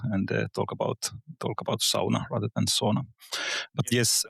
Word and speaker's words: sauna: What makes designing a sauna different from designing other spaces? I mean, sauna. Uh, I'm glad you're using the word sauna and pronouncing it as it as it is